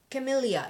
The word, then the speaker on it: camellia: and founder of the brand loves this flower camellia yeah that's how you say it camellia flowers